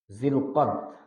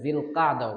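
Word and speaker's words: ذو القعدة: শাবান, রমাদান, শাওয়াল, জিলকদ, আরবিতে জুল কাদা, আবার বিশুদ্ধ উচ্চারণে জিল কাদাও বলে, আর আমরা বাংলায় বলি জিলকদ, জুলকদ। আমাদের ক্যালেন্ডার গুলোতে লেখা হয় জিলকদ মাস, কিন্তু আরবিতে আসলে ওই নরমালি জিলকদ শব্দ নেই।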